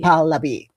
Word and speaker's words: Pahlavi: Remind me how to pronounce Reza Reza Reza Pahlavi. Pahlavi.